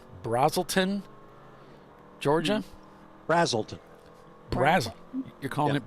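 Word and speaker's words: Braselton: I went to Bill to find out if it was a long A or a short A. Mm-hmm. It's not going to be the opposite of whatever he says. And of course, he said it was Brazelton, so I said, man,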